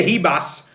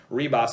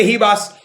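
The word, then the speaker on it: Ribas: khalil roundtree and amanda hebas reebos as you say that h you know in portuguese is actually pronounced as a the r is pronounced as an h the more you know so amanda hebas and khalil roundtree if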